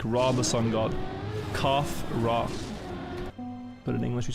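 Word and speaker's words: Khafre: raw in antiquity like rah the sun god cough rah but in English you say kafra some people say kafra if they want to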